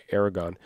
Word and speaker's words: Aragorn: Cuz it's spelled Aragorn, but they say Aragon.